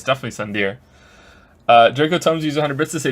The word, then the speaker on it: tsundere: Perhaps this is that tsundere thing, where someone is harsh or sweet depending on the mood. Should that be the new sub sound? It's Sundeer. It's Sundeer. He said it wrong.